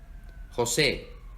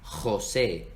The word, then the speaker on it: José: En América Latina, sobre todo en el Caribe, se pronuncia como la H en inglés. J. José, Jamaica. Pero en España, por la influencia árabe, suena más gutural, viene de la garganta. José, Jamaica.